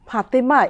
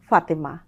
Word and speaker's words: ফাতেমা: নামের ক্ষেত্রেও যেমন ফাতেমা এইভাবে বলবো না, তখন বলবো ফাতেমা।